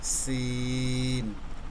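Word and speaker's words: سين: আমি যদি এখানে কোনো নোক্তা বা চিহ্ন বা ফোঁটা না দেই তখন এই বর্ণটির নাম হবে সিন। সিন। আর যদি আমি 3টি নোক্তা দিয়ে দিই উপরে তখন হয়ে যাবে শিন।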